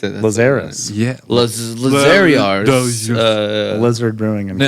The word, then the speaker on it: Lazarus: Okay, it's not French or anything. It's just called Lazarus.